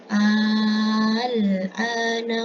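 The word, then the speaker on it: آلآن: Ada mad tabi'i hamzah, kemudian ada layarnya yang menandakan bahwa dia dibaca panjang, 5 harokat.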